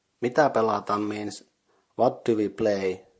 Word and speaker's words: pelataan: The second word pelataan is consisting of 3 syllables, pe, la, and taan. The first syllable pe is the same as in pension, so pe. The second syllable la is pronounced like in the game's name La Granja.